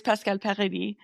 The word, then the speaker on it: Pascale Paradis: Yes, the French way is Pascale Paradis. I just say Pascale Paradis. Oh, okay. Yeah. But yeah, that's like technically the right way to say it.